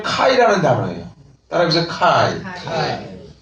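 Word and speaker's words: καί: 여러분들이 꼭 기억하시는 게 카이라는 단어예요.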